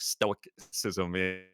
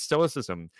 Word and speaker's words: stoicism: when i was younger i actually said incorrectly i said like stoic scissors and practicing know stoicism it's stoicism um and it's spelt with two eyes one before the c and one after the c i'm like okay great